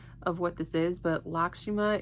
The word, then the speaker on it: Lakshmi: deck that I love okay your card is lakima lakima your your card is lakima lakshimi laimi I think that's how you pronounce it laki lakshi your guys's card is